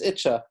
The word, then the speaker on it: Yitzchak: And in Gur, in Ger, the typical way of pronouncing the name, Yitzchak is Itcha.